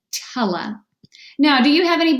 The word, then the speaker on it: tele: analysis of this word it looks like an open syllable tally it's usually pronounced with the schwa pronunciation tella now do you have